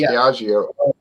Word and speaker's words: Diageo: Diageo, yeah, it's pronounced Diageo.